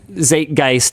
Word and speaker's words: Zeitgeist: So we are contributing literally nothing to the zeitgeist, or however you pronounce that.